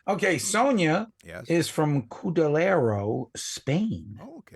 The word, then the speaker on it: Cudillero: is from Cudillero, Spain. Oh, okay. Cudillero. I think I'm Cudillero. Cudillero. I think I'm pronouncing it correctly.